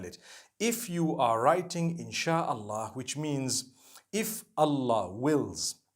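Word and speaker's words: إن شاء الله: so in Allah and when you're saying it you say insh Allah okay so I'm writing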